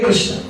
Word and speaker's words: Krishna: Actually, you know, the word Krishna is quite difficult to say because you have K made by the back of the throat, and then Ra, with the tongue up, Ra, and then Na.